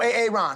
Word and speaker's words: Aaron: Because it's pronounced Aaron.